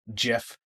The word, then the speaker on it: GIF: And it'll actually embed a little animated GIF of you GIF, for anyone that wants to pronounce it properly, in the email to draw more attention to it as well.